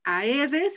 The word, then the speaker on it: aedes: En este, por ejemplo, esta palabra, en español podríamos decir que a y e no forman diptongo, pero en latín este es un diptongo muy importante. ¿Sí? Entonces es aedes, es una palabra bisílaba. Todas las palabras bisílabas se acentúan en la penúltima sílaba.